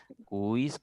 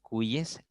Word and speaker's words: cuyes: los medios de comunicación te meten este este esta pronunciación cuis cacis eh convoys No ahora te repito lo correcto es convoyes caces cuyes leyes porque hallemos le la lógica si si se pronunciaran así estas otras palabras convoys cacis cuis tendríamos que pronunciar también leis no y este se rompería